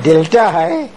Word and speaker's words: Dilthey: all this professor said del T and I get so mad di l th ey is not Bill T but Delta has the German pronunciation of di l th